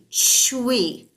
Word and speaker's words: shui: And then the last one is for kidneys, and it's pronounced like CHWEE, shui, shui, shui.